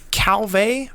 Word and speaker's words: Calvé: these disease look here calve a or a cow you pronounce that it looks a lot like calf and that helps me